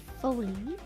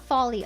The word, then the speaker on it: Foley: Foley, not folly. Oh, I said it folly. I don't know. Look, different accents. Okay, I bet some people say it like folly. Foley, like mildly famous Canadian